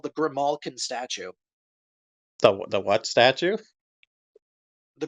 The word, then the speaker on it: Grimalkin: actually it's actually pronounced Grimalkin, Okay, not oh, Grimo.